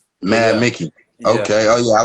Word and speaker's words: MVD.Micki: MVD.Micki is actually pronounced Mad Mickey. Mad Mickey.